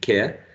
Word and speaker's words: care: Remember that this is very tricky because this final E is not pronounced, it's a silent E, right? So the final sound in care, in a non-rhotic variety is care.